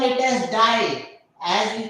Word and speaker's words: die: also the the these this is not die as we pronounce it in english this is b this is d so this is d